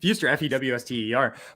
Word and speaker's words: Fuster: It's spelled Fuster, Fewster.